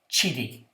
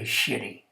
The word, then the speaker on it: Chiti: Well, I'll tell you how to pronounce it. Harry Chiti. Harry Chiti. But back then, we were kids. How did we pronounce his name? You know, this was Harry Shitty.